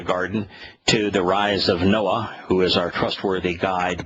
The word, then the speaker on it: Noah: Noah in Hebrew, pronounced exactly the same way as it's transliterated into English, means to guide and to lead to safety.